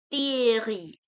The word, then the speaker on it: Thierry: the, in French it will be they, they, Thierry, Thierry. Okay, Henri, cathédrale, cathédrale, théâtre, ton. Okay, so we don't pronounce the, instead of we pronounce it the.